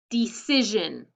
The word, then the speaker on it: decision: Decision. Decision. I hear Jean, so you know which one it's going to be. Because T-I-O-N doesn't say Jean, only S-I-O-N does.